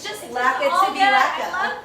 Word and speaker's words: lekker: I've heard a lot of funny things. Yes. Lekker and then when we talked about it, it was like Lekka, and I'm like, we need to educate.